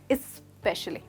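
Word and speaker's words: especially: तो दोस्तों यहाँ पे ध्यान दीजिए, इसको हम स से शुरू नहीं कर रहे बट ई से शुरू कर रहे हैं। फिर से ट्राई कीजिए, स्पेशली।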